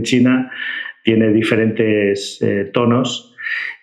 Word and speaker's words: Qi: explicaba antes, la pronunciación china tiene diferentes tonos y esa Q se suele pronunciar más como che, como chi.